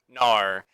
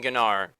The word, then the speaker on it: Gnar: named him Nar you guys all corrected me yesterday when I was saying gar by the way just that's why I'm saying it Nar now because all of you corrected me that I was saying it wrong thank you guys for